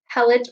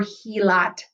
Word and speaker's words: helot: Again, you may hear the word helot or helot, depending on the pronunciation.